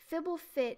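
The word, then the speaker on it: Fblthp: Fibblefit is how Marshall Sutcliffe pronounces it. He's the one that sets the pronunciations. Okay, if Marshall Sutcliffe says it, then that's what we have to go with. Fibblethip.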